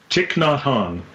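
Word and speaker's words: Thich Nhat Hanh: pronounce his name I'm gonna let the Dean pronounce his name cheek not hung there we go sometimes your joy is the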